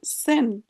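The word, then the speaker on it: zehn: এটার উচ্চারণ সেন।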